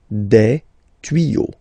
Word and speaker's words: tuyaux: Des tuyaux. Same rule, you don't pronounce it.